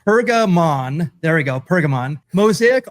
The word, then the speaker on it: Pergamon: Let me let me pronounce this correctly. Pergamon.